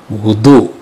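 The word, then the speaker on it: وضوء: Wa huwa bi dhammil wawi, wudu.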